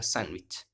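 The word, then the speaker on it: sandwich: लेकिन किसी ब्रिटेन का है, इंग्लैंड का है, उसको पूछिए, वो डी को नहीं बोलेगा, वो क्या बोलेगा, सैंडविच, सैंडविच, इस प्रकार से।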